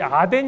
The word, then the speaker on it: 아덴: 바로 아테네 입니다 근데 아테네를 성경적으로 우리 아덴 이라고 읽습니다 아덴 이란 도시와 더불어 고린도